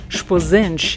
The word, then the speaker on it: Esposende: and famous university esposando which the portuguese pronounce something like spazince is a small seaside